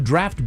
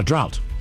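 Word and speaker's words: draught: Actually, no, it's draft. Draft. Draft. Draft. Draft. So, there's a silent s.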